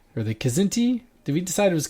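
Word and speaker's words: Kzinti: and that is the zinty or the kazinti did we decide it was kazinti or i think it's pronounced both ways okay zinty is dangerously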